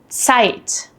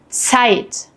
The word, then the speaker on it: Zeit: But in German, Z is completely different. It's pronounced like a ts sound, as in cats.